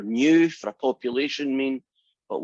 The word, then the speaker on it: mu: knew i should say remember that funny little guy pronounced mu when you get a